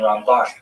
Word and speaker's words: Ramban: And Ramban is pronounced with the emphasis on the second syllable, Rambam. And Ramban.